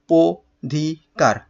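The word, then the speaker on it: অধিকার: ঘটালাম তাহলে কি হলো ও ধিক কার এটা হলো যেহেতু অ এর পরে অ এর পরে রসিকার রয়েছে সেহেতু এই অটার উচ্চারণ কি হবে ও এর মত হবে তাহলে এখানে আমরা ও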